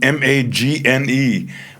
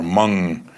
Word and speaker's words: Magne: It's written Magne, but I think they pronounce it more like mum or mung, which is to bark in Korea.